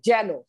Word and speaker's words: যেন: আর যখন অন্তস্থ জ দিয়ে, যখন অন্তস্থ জ থাকবে, তখন ওটা একার থাকলেও ওটা ইয়ে দিয়ে জ ফলার উচ্চারণ হবে, যেন।